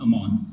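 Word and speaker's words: אמן: But in Hebrew it can also be pronounced amon.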